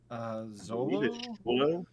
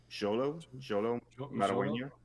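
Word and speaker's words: Xolo Maridueña: The actor's name is I don't want to mispronounce that. Zolo? Jolo Maragueño.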